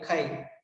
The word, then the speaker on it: chi: So see, while writing and pronouncing X, fine, but here the actual name is mole fraction is denoted by chi.